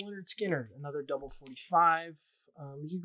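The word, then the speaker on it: Lynyrd Skynyrd: love it and the music's great too um pronounced leonard skinner another double 45 you could go with this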